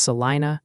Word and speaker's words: Salina: Salina is pronounced Salina and Selen County is Seline.